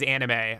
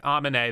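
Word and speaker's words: Aminé: his name oh yeah he gets mad if you say he's anime Amin a the guy who made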